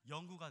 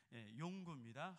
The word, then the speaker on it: 용구: 발음을 잘못하면 영구가 돼요. 그래서 영구 모르시나요? 용구입니다. 허용구.